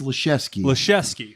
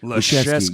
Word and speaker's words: Liszewski: It's Liszewski. Liszewski. Yeah. I mean, you know, I would have fucked that all up. It's cool. I mean, I wouldn't expect anybody to get it. It's I've heard it mispronounced all my life, so I'm not going to be. Yeah, there's no H in there.